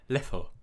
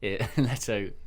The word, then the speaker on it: Leto: I think it's pronounced Leto.